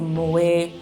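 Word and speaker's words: Moët: to an event I believe it was a Moet it's actually how it's pronounced um it's the the M andc champagne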